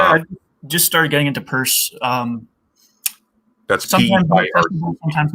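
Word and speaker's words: Peirce: spell it wrong but it looks like Pierce but it's not Pierce this isn't shame he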